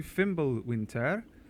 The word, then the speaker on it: Fimbulwinter: Stream welcome back to fimble Winter you have to say it like that like a Swedish they you go like